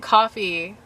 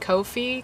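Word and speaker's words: Ko-fi: like i call it coffee but i feel like it's supposed to be pronounced kofi because it's k-o-f-i but i pronounce it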